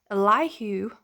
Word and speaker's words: Elihu: pronunciations so um this is going to be elihu according to the bible project's pronunciation who is responding to job and all